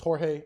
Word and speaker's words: Jorge: Also, thank you guys for letting me know that it's Jorge. I appreciate it. Because again, I do not want to get his name wrong.